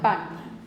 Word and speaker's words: pan: En la panadería se compra pan. Okay, can you pronounce pan in Spanish? Pan, pan, pan, pan, pan. Okay, is the sheet moving? No. No, because there's no aspiration.